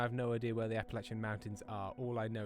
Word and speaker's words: Appalachia: To quote my friend from Kentucky, it's Appalachia, and if you say it wrong, we'll throw an apple at you.